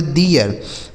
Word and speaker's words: their: इसे पढ़ेंगे दियर, मतलब क्या होता है?